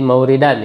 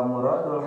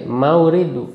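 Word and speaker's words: مَوْرِد: Jadi mauridan ya itu bacanya. Terus wa a'ammu minhu muta'alliqan. Fa muradul hamd. Sama kayak tadi, bukan murad. Sama kayak tadi, mauridu. Fa mauridu. Fa mauridul hamdi.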